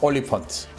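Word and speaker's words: Olifant: 올리펀트, 엘리펀트하고 비슷한 발음이죠.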